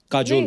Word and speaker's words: काजोल: काजोल। काजल है ना? बट काजल होता है। काजोल काजल में ऐसे ही उसका प्रोनाउंसिएशन है।